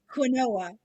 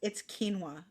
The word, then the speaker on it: quinoa: I always said quinoa, and I was like, for years, and my cousin's like, it's quinoa. I'm like, but it's spelled quinoa, and she's like, no, no, no.